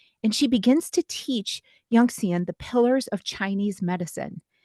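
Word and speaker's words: 允贤: I'm going to pronounce it Yongxian. Is that correct? Yes, that's correct. Yongxian.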